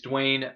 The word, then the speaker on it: Dwayne: johnson excuse me sorry wayne i know you watch our program so i'm just saying oh let me let me i'm sorry you didn't say it right it's dwayne the rock johnson future president dwayne johnson